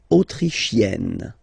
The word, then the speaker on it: autrichienne: L'Autriche, autrichien, autrichienne. So same thing here. You get E and then double N. You open the E.